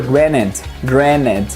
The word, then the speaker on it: granted: Lembrando o seguinte, em inglês, sempre que o T vem depois de N, em inglês americano, na maioria das vezes eles não vão pronunciar esse T, ele simplesmente será ignorado. Então na maioria das vezes você vai ouvir take for granted, sem esse som de T.